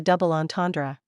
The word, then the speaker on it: double entendre: Give the word as close a French pronunciation as you can. The ends are nasalized, they are somewhat throaty, and the final syllable is barely audible.